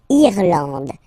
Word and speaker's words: Irlande: Remember, this is E, and it should be pronounced like E. Irlande. Irlande. Okay, A-N, D, and final E, not pronounced.